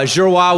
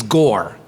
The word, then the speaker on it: Giroir: incredible human being but he could not pronounce cajun names at all so uh zhirohua was completely out of his vocabulary so he decided my name was gore and uh and and